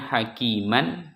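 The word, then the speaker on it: حكيما: dibaca samiam biro RO di sini Rya Aliman hakiman dibaca Aliman hakima jadianya hakima Ma hakima itu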